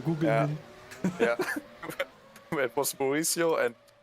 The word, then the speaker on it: Gugelmin: Oh yeah, Gujelmin. Oh no, Gugelmin.